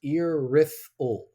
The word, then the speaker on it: Irythil: And it's pronounced irri.